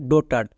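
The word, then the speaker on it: daughter: আর ডটার ডোটার next এখানেও জি এইচ এর পরে টি আছে তাই জি এইচ সাইলেন্ট তাহলে এটা কি হবে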